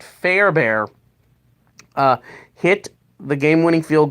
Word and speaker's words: Fairbairn: end, Kyrie Fairbairn, yeah, I said it right, Fairbairn, uh, hit the game-winning field goal in overtime,